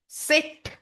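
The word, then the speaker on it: Zett: English का जो जेड है वो जर्मन में होता है सेट। सेट English Z is pronounced as German सेट।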